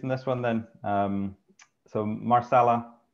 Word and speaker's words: Marsala: And I should point out that that's Marsala, not Masala, so not the South Asian cuisine. There's my Southland accent coming out to pronounce that properly, Marsala.